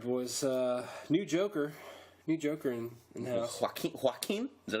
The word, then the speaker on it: Joaquin: Joaquin? Is that how you say it? It's like you're hawking can't up say it.